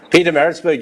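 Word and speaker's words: Pietermaritzburg: Nicky Johan, who's the coach in Peter Maritzburg. Have I pronounced it right? Peter Maritzburg, yes, it is in Natal.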